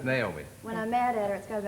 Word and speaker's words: Naomi: And it's Naomi. When I'm mad at her, it's got about 5 syllables in it.